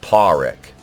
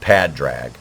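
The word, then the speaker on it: Pádraig: padrag Cotter Jesus Christ it's pronounced Paul Rick not pad drag okay now that that's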